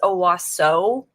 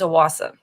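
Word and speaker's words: Owasso: it looks like it's a waso but apparently the way okis pronounce it is a Wasa so it's like an a instead of an O at the end he grew up with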